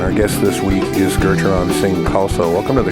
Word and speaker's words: Gurucharan: program Geron sing kalsa the second U is silent and so you do not say Guru it's Geron uh a Northwest Native